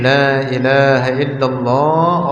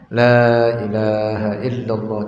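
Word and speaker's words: لا إله إلا الله: seperti kalimat tauhid ini Lailahaillallah oleh sebagian mereka dibacanya dengan sangat cepat sehingga yang seharusnya dibaca dengan pendekkan olehnya seperti La ini kalimat La ini adalah huruf Nafi tapi kalau dibaca pendek menjadi kebalikannya menjadi kebalikannya apa fungsinya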